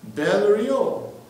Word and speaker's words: Blériot: French pilot, Louis Blériot. You don't ever pronounce the last consonant in French.